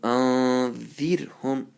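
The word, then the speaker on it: أَنذِرْهُم: So anzirhum, anzir, anzirhum. So you have to say very lightly, gently. Make sure you don't roll the tongue when you pronounce the ra.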